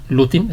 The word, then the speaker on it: Lutin: Bueno, antes de continuar quiero leer la semblanza de Lutin, espero que estar pronunciando bien.